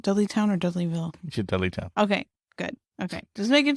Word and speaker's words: Dudleytown: You should Dudleytown.